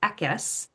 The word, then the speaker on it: Ickes: He pronounces it Ekis.